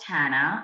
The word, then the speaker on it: Tanna: can definitely reach me on LinkedIn with Tana I'll spell it for you it's n e h a